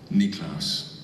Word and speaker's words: Niklaus: that everyone in our family knows how to pronounce it niklaus thank you that's awesome i would like to